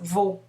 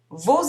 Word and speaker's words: vos: Au pluriel, on utilise vos, au masculin et au féminin. On ne prononce pas le S.